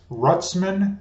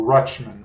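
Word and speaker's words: Rutschman: so I have adley rutz rutz rutzman or rutchman I've heard it pronounced both ways but I'm going to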